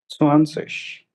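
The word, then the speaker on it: zwanzig: स्वानसिश।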